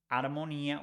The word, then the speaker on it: armonía: We don't pronounce H in Spanish. So whereas in English we say harmony, in Spanish we say armonía without pronouncing H.